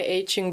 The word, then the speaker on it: aching: As the weekly morning meeting ended, I stretched my aching back and made my way to the conference room's door. Suddenly someone called me over. Aching, that's how it's pronounced. Not ache.